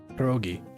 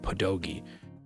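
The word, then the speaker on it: pierogi: Um I think the American population of the Polish people when they moved to the United States just dropped the rolled R and pronounced the rolled R as a D and it became pedogi.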